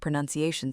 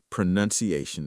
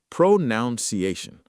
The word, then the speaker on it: pronunciation: Pro-nun-ci-a-tion. Five syllables.